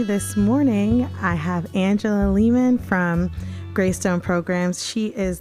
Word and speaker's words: Lehman: It's pronounced It's pronounced layman, but it works.